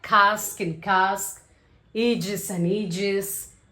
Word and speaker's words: casque: So the first is cask and cask. Okay, don't say this as casque or casque and all.